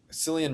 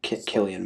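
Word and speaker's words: Cillian: Uh Selian Murphy was really good in Oenheimer and I really like Sillian Murphy. So I just Killian Murray, pretty sure is how you pronounce it.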